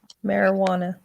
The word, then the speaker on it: marijuana: It looks like marijuana with the J, but the J is silent.